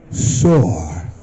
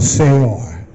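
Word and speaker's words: שאור: In Hebrew, it is sor or seor. That is good. That's correct. Because it's actually the sound phonetically, S-E-H-O-R. Phonetic sound.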